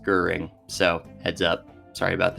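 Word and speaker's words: Göring: It's not pronounced Goring, it's pronounced Goering, so heads up, sorry about that.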